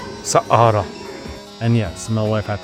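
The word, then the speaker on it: Saqqara: Sahara. Sakara.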